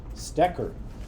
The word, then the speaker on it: Stecker: That's how you say it. It's like German. Stecker.